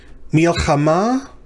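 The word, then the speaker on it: מִלְחָמָה: Milchama, this is going to be mem, hirek, and then because that shava under the lamed is a silent shava, it's going to close the syllable. Mil. Then the chet with a kametz under it. That's the next syllable. And then finally, ma, the mem with a kametz he. Mil, cha, ma.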